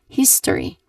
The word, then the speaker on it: history: So the tip provided is that you should say all three syllables here. You do not shortcut you do not shorten the syllables of this word. You should say it as history. You say it as you say it how it looks like in here. In this case you say it as how it is spelled like history.